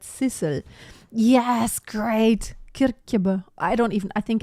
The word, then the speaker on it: Sissel: I think it's the other way, not Cecil, but Sissel.